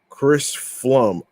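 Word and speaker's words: Pflum: All right, so BBV's Chris Flum. I think the P is silent actually.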